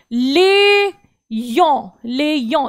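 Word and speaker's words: Lyon: आगे वो बोलता है जाबीत आलियों, बीत आ ले यों, ये फ्रेंच में ही जगह है लियोन, तो यहां पर लियोन हम लोग लियोन बोलेंगे इंग्लिश में, लेकिन फ्रेंच में बोलते हैं लियों।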